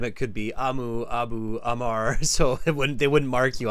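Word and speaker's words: Amr: Amu? A-M-U? No, R. A-M-R. A-M-R. Amar? Yes. Yes, Amar. Yes, Amar. Okay, Amar. Okay, Professor Amar.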